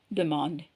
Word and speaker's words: demandes: ஆனால் எஸ்ஸை ப்ரொனவுன்ஸ் பண்ண மாட்டேங்கிறோம். டு demand.